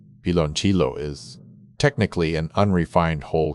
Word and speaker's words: piloncillo: Pronounced pee-lon-kee-yo, piloncillo is technically an unrefined whole cane sugar, also known as papelón or panela.